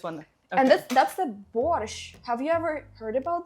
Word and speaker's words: borscht: And let's try borscht. Borscht time. You're pronouncing it so good.